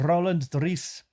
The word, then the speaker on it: Roland Driece: And I'm pronouncing it in a Dutch rolling my R's way because they like to do that. Mr. Roland Driece is since, and the way he's written it, right?